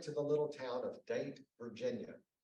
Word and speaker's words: Dante: town of date Virginia now it is spelled Dante but you do not say Dante you can go there you got to say Nate because if you say Dante they know you're not from there and at that point